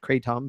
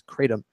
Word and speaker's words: kratom: Actually, that's how it's pronounced. I found that out through a little bit more research. We were calling it kratom, but it is kratom.